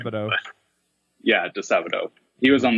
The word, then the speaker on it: Disabato: Disabato.